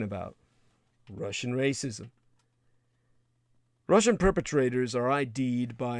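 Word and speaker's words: рашизм: It's actually pronounced in the Ukrainian more like racism, because that's exactly what they're talking about. Russian racism.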